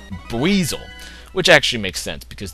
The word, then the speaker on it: Buizel: someone told me that this thing rhymes with Weasel. I always thought it was Buzziel, because I never actually, like, watched the, you know, anime or anything. But apparently it's Buizel, which actually makes sense,